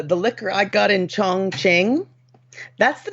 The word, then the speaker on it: Chongqing: gonna y'all I promised you the name is Chongqing I promise you it is spelled this way c-h-o this is an opinion by the way c-h-o-n-g-q-i-n-g Chongqing y'all welcome to 90 day gays my